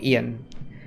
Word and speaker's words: Ion: I know it's Ian, they call him Ian.